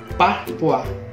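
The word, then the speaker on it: Parfois: Ito yung parpoise. Hindi ko alam kung paano babanggitin kung parpoise or parpua. Search ko lang kung paano pag-pronounce. Wait. Parpua. So, pag-pronounce pala na ito is parpua.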